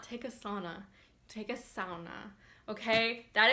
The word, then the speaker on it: sauna: do not take a sauna take a sauna okay that is how it is pronounced the Finns pronounce every letter in the word J's like wise wise